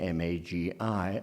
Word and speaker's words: Magi: I when there are many ways of pronouncing ma ji I all of them acceptable John but let's hear